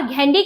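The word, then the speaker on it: Ghandy: फिरोज गांधी नहीं था उनका नाम था फिरोज घांडी और कुछ लोग उन्हें गैंडी भी कहते हैं घांडी या गैंडी ये दो तरह से इसको पुकारा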